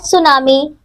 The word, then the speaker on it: tsunami: as tsunami fat file tsunami is a Japanese word which means Harbor waves it is pronounced as tsunami the waves were named